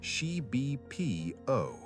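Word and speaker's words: xibipiío: Shib PO pronounced sheibb and it means approximately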